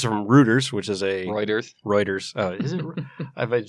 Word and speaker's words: Reuters: All right, so this is from Reuters, which is a Reuters.